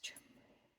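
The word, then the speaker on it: Cholmondeley: This is the word people really get confused with on Facebook. It says Joel Monthly, but I think they pronounce it as Chumley. Don't ask me why it's pronounced like that, they just do.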